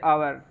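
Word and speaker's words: hour: प्रकार एक और वर्ड लिया है हमने जैसे अवर इसकी सही जो स्पेलिंग होती है वो होती है ह ओ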